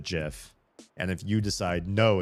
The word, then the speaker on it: GIF: And if you listen to the person who who created the GIF standard or their team did, they pronounce it GIF.